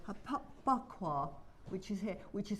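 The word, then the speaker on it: Baqua: It's a bakwa. It's spelled B-A-Q-U-A. Bakwa.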